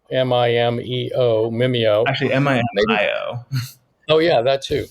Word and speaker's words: Mimio: So just for some of the people that aren't familiar with Mimeo, Mimeo, Mimeo. Actually, M-I-M-I-O. Oh, yeah, that too. Mimio.